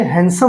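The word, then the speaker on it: handsome: वैसे ही देखिए हम पढ़ते आए हैंडसम। तो हैंडसम नहीं होता। ये हैंडसम होता है। यहां पे भी डी जो होता है साइलेंट होता है। बिल्कुल नाम मात्र का जोर दिया जाता है।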